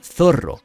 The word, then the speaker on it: Zoro: demás y se pierde en la versión española su nombre se pronuncia zorro y cómo la costumbre